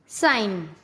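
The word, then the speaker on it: sign: Rule, जब एन से पहले जी आता है तब हमेशा जी साइलेंट होता है।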